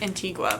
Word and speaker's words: Antigua: it was beautiful we went jet skiing in Antiga it's actually pronounced Antigua but I always say Antiga and it was so much fun this is